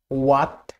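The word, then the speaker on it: what: Silent H, ওয়ার্ডের শুরুতে ডাব্লিউ এইচ জি এইচ এ, ডাব্লিউ এইচ জি এইচ এ H silent থাকে, যেমন ghost, ghost. হোয়াট, হোয়াট, নট হোয়াট, হোয়াট না, নট হোয়াই।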